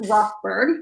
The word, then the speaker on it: Rothberg: And he's also the proud grandson of a U of M graduate, Florence Rothberg. Am I pronouncing that correctly?